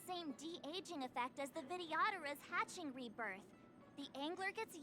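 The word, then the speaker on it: Vidyadhara: true rebirth patching rebirths are specific to the videodera can humans also oh that's how you pronounce that videodera Alchemy Commission the medical principles the novel are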